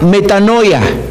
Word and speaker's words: metanoia: Esta palabra que leímos aquí, arrepentíos, en Mateo 4:17, la palabra arrepentíos viene de un concepto griego que se pronuncia metanoia.